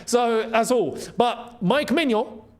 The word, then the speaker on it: Maignan: In France, his name is pronounced Mano, right?